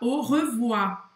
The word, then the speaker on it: au revoir: E um outro erro é falar au revoir. E esquecer esse R no do final. Tem que pronunciar. Então, au revoir.